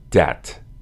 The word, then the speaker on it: debt: Debt. The word debt refers to money that is borrowed and must be repaid. Notice that this word is spelled with a B, but the B is silent.